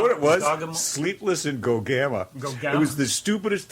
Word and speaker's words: Gogama: Oh, yeah, that's so Gogama. It doesn't matter how you pronounce it.